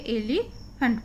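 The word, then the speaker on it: elephant: एलिफेंट, PH का उच्चारण फा होता है, तो यहाँ पे एलिफेंट पढ़ेंगे इसको।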